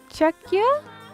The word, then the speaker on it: Czech: Czech. Okay, Czech. Okay. That's how you say it.